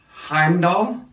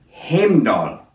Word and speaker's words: Heimdall: have in the past today you'll hear heimdall on time niflheim and muscleheim these are the germanic pronunciations of these words however today we'll be pronouncing them heimdall niflheim and muspelheim these instead are the icelandic pronunciations and are more close to the original ancient pronunciations you're going to hear